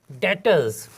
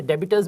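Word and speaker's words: debtors: जी, डेटर्स। जो account से touch नहीं है वो उसको डेबिटर्स भी पढ़ते हैं, लेकिन इसमें भी साइलेंट है, इसको डेटर्स पढ़ेंगे।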